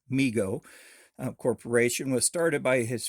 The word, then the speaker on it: Mego: response to overwhelming demand migo pronounced m-e-e-g-o migo corporation was started by